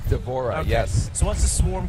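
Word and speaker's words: D'Vorah: divorce to do is it how do you pronounce her name devorah is that right devorah yes so what's the swarm queen she's like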